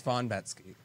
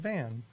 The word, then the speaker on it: Von Metzke: It's Von Metzke. It's not – that's what I said. You said Van.